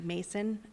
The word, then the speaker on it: Mason: I had a mispronunciation in a name last month, so I would like to correct that for the record. I would like to acknowledge Mary Mason for retirement. Last time I said Manson instead, so I apologize for that.